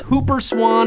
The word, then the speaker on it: Whooper swan: swans chance or maybe those Whooper swans actually pronounced Hooper Swan if you want to